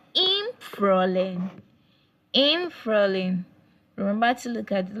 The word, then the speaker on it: Frühling: Im Frühling. Remember to look at the left hand side of your video to take note of the pronunciation. Im Frühling, that's in spring.